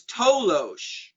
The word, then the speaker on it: Toloache: There was also a compound known as Tolosh. It's spelled Toloache, and that was a plant native to Mexico.